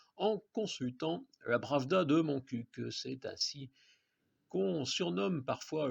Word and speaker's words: Montcuq: Je prononce à la lautoise pour Montcuq, et non comme un commentateur du Tour de France ou un animateur de la caravane publicitaire.